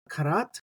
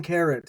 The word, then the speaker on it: כרת: scheme used um so when I think karat you can think of a pneumonic device like a carrot being cut up um or like a cat uh like a uh 10 karat diamond or something like